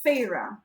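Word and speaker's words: Feyre: thorns and roses um the main character's name is pharah which is spelled f-e-y-r-e and the first time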